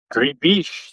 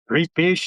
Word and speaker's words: gribiche: So, uh and then the real special treat today is gribiche sauce.